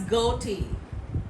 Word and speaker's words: ghoti: spelling of fish is g-h-o-t-i gauty we we pronounced this as goti ghoti it sounds then he started giving an